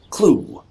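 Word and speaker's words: Clough: pollock pike which has a cloth pronounced clue apparently an enormous gouge in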